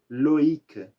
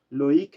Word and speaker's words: Loïc: existe um nome masculino em francês que é Loïc. Loïc a gente coloca um trema justamente para não fazer um loac. Então é Loïc.